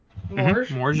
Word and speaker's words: Morge: Do I pronounce it wrong? Morge? Morge is right.